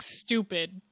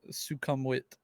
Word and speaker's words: Sukhumvit: our uh was our next pick which is suum vit uh swimming I was trying to hear them pronounce it in the song and honestly it sounded like stupid was GNA say the same thing stupid yeah